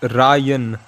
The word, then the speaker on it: Ryan: Bro, it's Ryan. रायन. The first part is Ra, second part is Yen. Check, Yeah, check, the check, check. Japanese currency Yen.